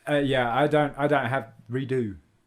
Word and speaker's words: Redux: the Redux. Yeah, I don't have redo. It's But- not Redux. No, The X is it's silent. French.